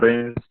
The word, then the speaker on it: reign: All that reigns, meaning of reigns, REIGNS. It is not a region, it is reign. Pronunciation is reign.